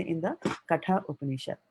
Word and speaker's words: Upanishad: He has not put Upanishada, right? He's ended it with a D. That's why we are saying Upanishad. If he had put an A there, then we would have said Katha Upanishada, like that.